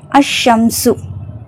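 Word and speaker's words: الشمس: த fish next Sheen அஷம்சு ஷம்சுனா சூரியன் அஷம்சு அந்த சூரியன் ஷீன்ங்கறது ஷம்சியோட எழுத்து சோ அதனால லாம் உச்சரிக்கப்படல சாது அசதுரு அசதுரு சதுருன் அப்படின்னா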